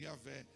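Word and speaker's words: Javé: era Deus né yé Y H w o nome pronunciava yavé então quando yavé descia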